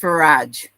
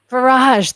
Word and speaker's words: Farage: no, it's pronounced Farage. Farage, that's right.